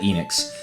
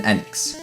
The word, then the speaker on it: Enix: for enex or Enix I always called it Enix if it was going by the pure Japanese pronunciation of the of their vowels the E is pronounced as e so it would probably have been Enix Enix but I don't know if it's supposed